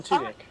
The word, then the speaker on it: Tudyk: Oh my god, you're getting Alan Tudyk. Oh my god. Is that how to pronounce it? Yeah, Alan Tudyk.